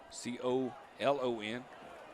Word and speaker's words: Colon: Could be Colon. C-O-L-O-N.